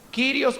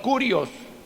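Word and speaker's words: Κύριος: el título de señor, Kyrios o Curios, como usted quiera si prefiere la pronunciación antigua o moderna del griego.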